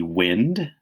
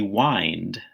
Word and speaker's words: wind: That word could be wind, or it could be wind, as in he had to wind the grandfather clock.